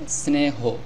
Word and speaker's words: স্নেহ: ছিল দন্তস্য ন স্ন এখন যেহেতু এককার এসেছে এখন হবে স্নেহ তারপরে হ স্নেহ এই শব্দটির সঠিক উচ্চারণ হবে স্নেহ এখন আমরা এই হ